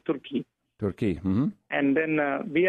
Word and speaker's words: Turki: You know, the Indians pronounce not Turkey, they say Turki.